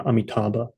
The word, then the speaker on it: Amita: Amita is the classical Sanskrit pronunciation.